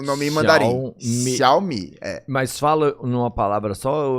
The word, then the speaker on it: Xiaomi: O primeiro fala Xiao e o segundo fala Mi. Essa sílaba Xiao a gente não tem aqui no português, esse tritongo, né? X, I, A, O. Mas em mandarim existe esse fonema. Então é Xiao, Mi.